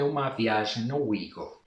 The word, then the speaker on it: OUIGO: que é o wigle o wigle É assim que se pronuncia em espanhol é já as pessoas estão pronunciando de muitas formas diferentes porque o nome francês né prpria a própria empresa fala Wi go mas já ouvimos Wi